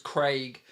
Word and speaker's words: Craig: It's spelled with a C, mate, not G. It's not, it's Craig.